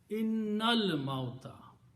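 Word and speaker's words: إِنَّ الْمَوْتَ: When you recite, then you do not pronounce this alif in there. You combine noon with lam. Innal mauta.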